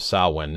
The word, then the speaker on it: Samhain: But what we have here, specifically pointing out again, Samhain, a Gaelic word pronounced sah-win, is a pagan religious festival originating from an ancient Celtic spiritual tradition.